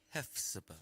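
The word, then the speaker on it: Hephzibah: You say hef like you Hefner, can't you?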